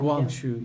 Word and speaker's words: Guangxu: Guangxu, yeah.